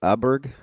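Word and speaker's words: Åberg: Oh, Oberg. Aberg. Yep. Ludvig. Oberg. I believe with the umlot above it, it's pronounced as Yeah, correct.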